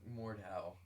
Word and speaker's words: Mordhau: guys were playing that game that I can't pronounce. Mordhau.